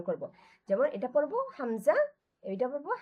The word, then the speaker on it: হামজা: যেমন এটা পড়বো হামজা, এটা পড়বো হা, হামজা আর হ্যাঁ। হা। এটাই হ্যাঁ। কি আসলে যে হালকা কাশি দেওয়ার মতো করে এই দুইটা আমরা উচ্চারণ করবো, হালকা কাশি দেওয়ার মতো।